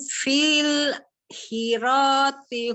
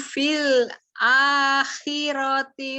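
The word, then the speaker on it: في الآخرة: Wahum fil hirati humul. Sebentar. Ini bacanya fil a, ada a-nya. Fil a, ini tadi apa? Kemarin tuh anaknya copy paste nih jadi begini. Yuk. Wahum fil akhirati humul ahsarun.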